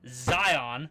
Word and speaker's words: Zion: native here even though according to Miriam Webster it is pronounced Zion what the [